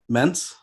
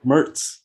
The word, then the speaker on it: Mertz: Uh, our buddy, how do you pronounce his name? Mentz? Yep, Graham Mertz. Mertz.